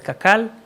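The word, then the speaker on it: קקל: so I will just refer to it as kakal which is the how we pronounce it the the acronyms we pronounce in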